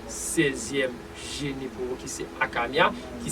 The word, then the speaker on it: Hakamiah: nous Somé le 16e Gén pour qui c'est akamia qui s'écrit H a K a MB H qui